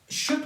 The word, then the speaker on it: should: शुड को यहाँ पे हमारे पास एल क्या है, साइलेंट है। साइलेंट से मुराद लिख तो सकते हैं पर बोल नहीं सकते हैं। स्पीकिंग में हम लोग इसको शुड नहीं कह सकते हैं बल्कि शुड है हमारे पास।